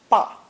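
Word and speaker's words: 爸: The character for dad or papa is simply fu with the ba phonetic underneath, together pronounced ba.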